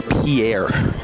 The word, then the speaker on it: Pierre: on the map where Pierre is the state capital first of all it's pronounced pier and that would be